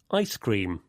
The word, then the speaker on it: ice cream: With compound nouns, the stress usually goes on the first part, like this. Popcorn, ice cream, keyboard.